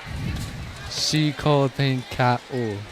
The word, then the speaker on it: Chico Tenka'u: Say it the way you want it heard. Chico Tenka'u. Chico Tenka'u. Yes, that's how it is.